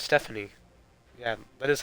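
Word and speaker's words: Stephone: Oh, it's Stephanie. Yeah, that is how you pronounce his name.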